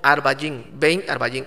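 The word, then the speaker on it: עַרְבַּיִם: está una palabra hebrea que dice que se pronuncia como arbain está una palabra hebrea que es ven arvallin venga arbayín y para que digas de esta tarde a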